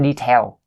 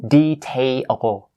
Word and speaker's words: detail: It's not detail. It's detail. Tail. It's like fairy tale or something like that, right?